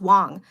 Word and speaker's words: Wang: Anyways, so yeah, but Dylan Wang, is it Wang? But but then in Mandarin is pronounced Wong.